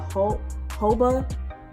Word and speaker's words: jojoba: Is it the jojoba oil, or you know, people pronounce the J, but I think it's actually silent.